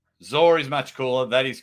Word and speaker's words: Zaur: Well, I call him Zaur because it looks like dinosaur. So I call him Zaur is pronounced Zaur.